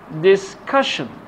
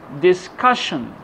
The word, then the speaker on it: discussion: So the stress should be put on the syllable before T-I-O-N or S-I-O-N.